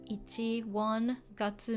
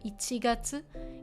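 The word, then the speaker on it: 一月: And this one pronounced a bit differently. Ichi, 1, gatsu, moon or month. So ichigatsu. Ichigatsu is January.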